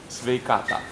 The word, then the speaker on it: sveikata: Sveikata.